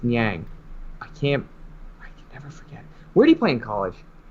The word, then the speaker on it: Niang: I think it's Niang.